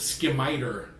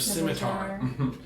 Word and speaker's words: scimitar: pronouncing it incorrectly but they said skip my tur instead of scimitar and I was just